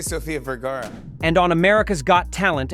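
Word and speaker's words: Sofía Vergara: Here and you keep saying my name wrong. Soph. Usually I say Sophia Vgara.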